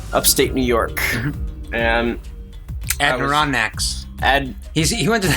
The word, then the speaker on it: Adirondacks: Adirondacks in northern of State New York and Adirondacks and he went to the heath he went